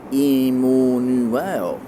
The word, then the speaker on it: Immanuel: And when they spell it to how it's pronounced, it's actually pronounced Immanuel.